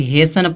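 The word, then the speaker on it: hasten: Rule क्या कहता है? किसी शब्द के अंत में टी इ एन आता है। तो जो यह टी होगा या टी क्या होगा? साइलेंट होगा। तो इसको क्या पढ़ेंगे? हेसन पढ़ेंगे। हेसन मींस क्या होता है?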